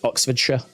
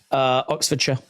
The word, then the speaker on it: Oxfordshire: In this country, it's Oxfordshire. It's pronounced sh. Oxfordshire.